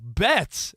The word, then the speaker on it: Betts: My My son's like, "No, Bets." And Freddy and Otani and Oh, yeah. Rhymes with Mets.